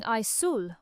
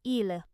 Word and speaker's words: aisle: For example, she walked down the aisle at the supermarket. Learners often pronounce this word as it is written, saying aisul or aisel. But in British English, it is pronounced simply as île, exactly the same as